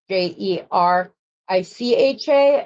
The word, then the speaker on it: Jerica: Her name is Jerica, but it's spelled like the same as Jericho. So it's Jericha, and she's gotten everything under the sun at the coffee shop and whatever here.